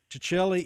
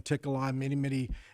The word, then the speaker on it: Ticelli: And they say when in Rome, so when in Rome, it's Ticelli. Ticelli is the correct pronunciation, but somewhere along the line they started saying Tickelai many years ago.